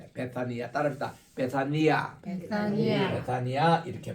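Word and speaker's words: Βηθανία: 요게 오늘날 단이라고 이름을 하는데 베다도 원에 보면 베사니아니다 베사니아 따라합시다 베사니아 베니아 베사니아 이렇게 발음을 해요 그래서 타우타 앤 베사니아 에네 베란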